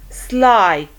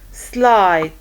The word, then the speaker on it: slight: Okay, like height, height, slight, slight, sigh, sigh. You see the IGH, the I takes the long I sound and the GH is silent, so sigh.